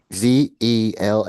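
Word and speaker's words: Zelle: Z E L L E. Z like Z as in zebra as in zebra.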